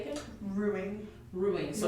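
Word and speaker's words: roux: so um sorry how do you say again ruin ruin so R it's kind of weird it's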